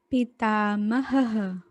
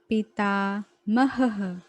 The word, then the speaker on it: पितामहः: पितामहः, पितामहः, क्योंकि यहाँ ऑलरेडी हा है और ये विसर्ग है तो 2 बार हा की तरह प्रोनाउंस होगा।